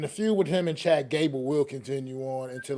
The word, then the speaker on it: Chad Gable: hope uh I'm say I think I'm saying his name wrong but um I hope he does well you are but it's all right we get it what is his name we it's Chad Gable it's just Chad Gable I thought yeah well